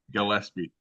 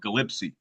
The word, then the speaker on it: Gillespie: How do you sp pronounce that last name? I'll redo it. Gillespie.